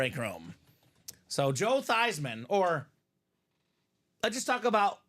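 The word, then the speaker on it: Theismann: you over the top let's take that theeman name and change it to thyman so it can be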